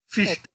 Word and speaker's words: Fichte: Fichte. E aprendi a pronunciar o nome dele certo agora.